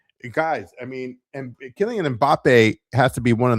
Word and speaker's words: Mbappé: Listen, I'm no I'm no uh expert when it comes to names, but it's pronounced Mbappé, not empathy.